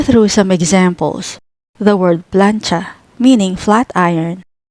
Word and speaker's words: plantsa: First syllable plan consists of consonant cluster PL plus vowel A plus consonant N, and the second syllable cha, which is a single consonant cluster with TS plus vowel A. Read it as plancha, plancha.